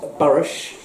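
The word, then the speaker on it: Burwash: Now, this is Burrish, as it should be pronounced, in 1905, and it was the young ladies versus the young men.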